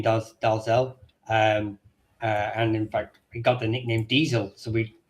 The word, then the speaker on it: Dalzell: So you'll have two names that are quite famously mispronounced, Dalzell and Menzies. Now those are both variations of the name. That's not how they're pronounced in Scotland. But if the minute you come out of Scotland, they are pronounced like that.